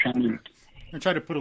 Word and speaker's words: Chanute: And it's pronounced Chanute.